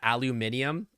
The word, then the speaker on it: aluminium: How do I say aluminum? I say aluminum, but I also think that the way that Brits say aluminium is correct. I think they're both right.